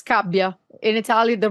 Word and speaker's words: Scabbia: it was actually perfect because many people say scabia which is wrong because it's kabia in Italian the right pronunciation is that's very Italian but yeah you